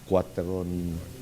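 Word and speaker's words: Cuarteron: The other is Quateron Shoal Reef. Quateron Reef. Quateron is spelled Cuateron. That's the international name. Quateron is called, we call it Calderon.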